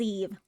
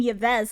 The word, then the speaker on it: Yves: Okay, so it is pronounced as Eve. Okay, so I've been calling him Yves this whole time.